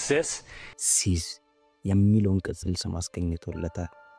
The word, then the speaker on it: CIS: Yes, it's pronounced sis.